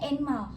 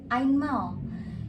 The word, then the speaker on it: einmal: Kalau kalian nemuin kalimat, nemuin kata kayak ini contohnya, bukan dibacanya Einmal, tapi dibacanya Ainmal.